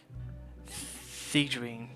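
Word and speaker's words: Sigewinne: Siegeween. Okay, that's how you pronounce it.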